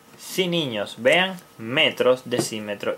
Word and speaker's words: decímetro: También tenemos el decímetro. Decímetro. Decímetro. Y también lleva acento en la I.